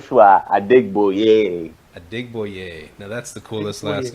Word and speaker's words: Adegboye: you know I used to go for but that's how you pronounce my original last name it's at dig boy yay Oh change changed it up huh James it